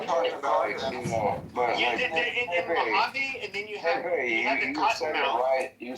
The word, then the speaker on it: Mojave: Yeah, in Mojave and then you have You said it right.